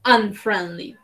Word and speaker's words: unfriendly: Bueno, recordemos que acá la pronunciación va como con una A, ¿sí? Unfriendly. Esta U suena como más o menos una A.